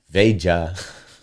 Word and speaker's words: Veja: No, Veja. It would be Veja. Yeah, I think that's what it is. Veja. Yeah, Yeah. Veja. I'm saying it right? Yeah. it's like Asia, but Veja.